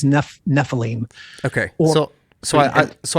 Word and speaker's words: Nephilim: now okay first off is nephilim the proper way to say it because i've heard nephilim nephilim it's the english anglicized word is nephilim okay so so i